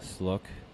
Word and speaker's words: Sluk: And then I would call her up and say, it's Sluk.